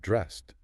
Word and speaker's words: dressed: You pick out clothes and then you get dressed. Notice the end of dress. It sounds like a t, not an ed.